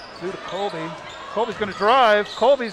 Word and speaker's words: Colby: the first one and that is colby c-o-l-b-y not kobe sealed but bryant is spelled the same colby for the second